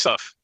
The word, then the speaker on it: Isuf: And Mike said to Omar Isuf, I asked you this an hour ago, and I'm still mispronouncing it. Isuf.